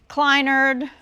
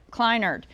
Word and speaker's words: Kleinerd: Kleinerd, like you recline in a chair and you're a nerd. Kleinerd. That's how you say it.